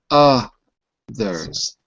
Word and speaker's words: others: Look at the word that I wrote in the chat window. Others. Some fun. Sun, fun, others.